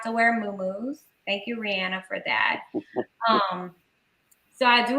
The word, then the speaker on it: Rihanna: Thank you, Rihanna, because she recently told us the proper way to say her name, Rihanna.